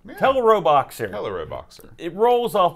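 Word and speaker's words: Teleroboxer: star you know it's it's a portmanteau Japanese love portmanteaus well television robot boxer I say little robot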